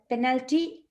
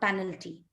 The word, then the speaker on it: penalty: establishes establishes not establishes penal penalty not penalty and what's in dinner